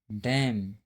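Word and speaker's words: damn: किसी वर्ड में यम और यन दोनों एक साथ आते हैं तो यन जो है साइलेंट होता है।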